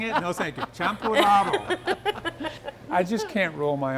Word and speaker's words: champurrado: Champurrado. Say it one more time. Champurrado.